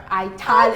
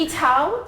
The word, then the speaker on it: Ital: Did I say it right? Ital is vital. Ital. It's Ital. Ital, sorry.